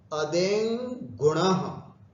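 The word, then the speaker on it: अदेङ् गुणः: अदेंग गुणः, शुद्ध उच्चारण करना है, अदेंग गुणः।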